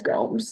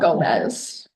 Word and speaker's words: Gomes: ever heard it as Gomes not Gomez GES thank you sorry for the Mis pronunciation everybody thinks that it's Spanish but it's very different than Spanish fair enough thank you